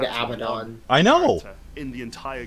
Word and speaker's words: Abaddon: Abaddon is now at large, and yeah, GW put out an official pronunciation video where they said Abaddon.